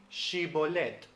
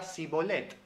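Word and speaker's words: shibboleth: en jueces 12 6 tenemos a una persona diciéndole digi bolette pero la otra persona dice sibolette porque no puede pronunciarlas lain sino que lo hace como una s Sí aún en Latinoamérica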